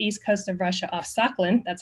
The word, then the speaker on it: Sakhalin: also off the east coast of Russia, off Sakhalin, that's how you pronounce it, Sakhalin Island.